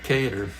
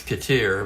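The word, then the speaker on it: Cater: Here's Danny Kedar, which I used to pronounce Katier, by the way.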